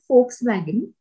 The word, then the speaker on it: Volkswagen: comes soon guten morgen for like you all know the car volkswagen okay because v stands for f in german language so the word for